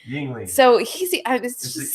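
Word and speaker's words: Yuengling: I don't know how to pronounce it. It's Yingling. Yingling.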